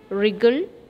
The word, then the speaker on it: wriggle: pink third one wrinkle wriggle right fourth one worry work wonderful here you can notice that in the third column the letter w is silent okay number pronunciation wrinkle